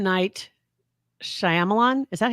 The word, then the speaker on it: Shyamalan: whole lot about it I'm I'm on the pronouncer here on Google hold on oh Shyamalan Shyamalan Shyamalan M Knight Shyamalan that's what the